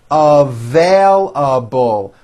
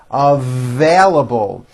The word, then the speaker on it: available: left you a message available with a strong v v it also has four syllables available available those shoes are not